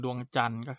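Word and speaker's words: ดวงจันทร์: นั้น ด้วย นะ ครับ จาก ตัว อย่าง เช่น ดวง จันทร์ นะ ครับ ก็ จะ มี ตัว ท. ทหาร กับ รอ เรือ แล้ว ก็ มี สำนัก คาด ใช่ ไหม ครับ ฉะนั้น คำ นี้ ออก เสียง ดวง จันทร์ ออก เสียง เป็น ตัว สะกด เอา หนู นะ ครับ ส่วน ทอ ทะ หาน รอ เรือ นั้น จะ ไม่ ออก เสียง นะ ครับ มา ดู ต่อ ไป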